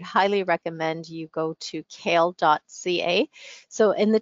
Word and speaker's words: CAEL: to Isles academic so this test is called kale it's not the vegetable it's spelled cael but it the pronunciation is the same so the kale test is accepted by